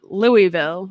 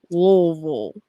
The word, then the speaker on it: Louisville: of kentucky in louisville it's not louisville it's louisville it's louisville i'm sorry it's all supposed to be like one um one syllable so it's supposed to be louisville slugger yeah not louisville slugger well that's like colloquially